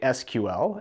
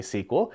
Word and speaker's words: SQL: it some people say SQL and some people say sequel so if you don't like how I say it or if you think that it should be pronounced a different way you know go ahead